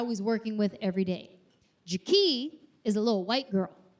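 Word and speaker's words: Ja-Kee': Her name is Jaquie. Not Jackie. Jaquie. It's spelled j a {dash} capital k e e {apostrophe}.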